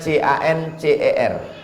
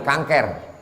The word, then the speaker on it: cancer: Tulisannya C-A-N-C-E-R. Orang barat membacanya cancer. Orang kita susah menyebut cancer. Kenapa nih? Kanker.